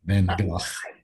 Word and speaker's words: Van Gogh: By the way, he pronounced it correctly. Van Gogh.